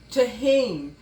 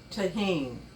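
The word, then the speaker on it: Tajín: our corn is is tahen the J is silent so it's pronounced tahen spicy so if you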